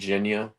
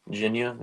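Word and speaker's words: Jinya: Ramen because of my fiance and I think Ginia I'm pretty sure that's a chain Ginia is a pretty good Ramen I'm big fan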